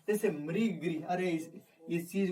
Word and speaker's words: मृग: जब भी री का उच्चारण आ जाए, अब ऐसा नहीं कि आ गया जैसे वह मरी, तो मरी और मृ में अंतर होता है।